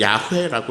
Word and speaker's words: 야훼: 사람들은 나는 나다라고 쓰인 히브리어에다가 모음이 원래 없거든요 근데 몸을 맘대로 붙여 가지고 그것을 이제 야훼라고 읽었습니다 이제 우리 번역으론 여호와죠